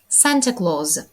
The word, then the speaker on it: Claus: мішок се Санта Клаус sant clause у слові clз ми вимовляємо звук з Santa clause камін англійською буде fireplace